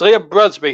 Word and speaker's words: Liam Brusby: be your match commented i think i've got his pronunciation right i said buzzby didn't i it's liam brusby who's gonna be your big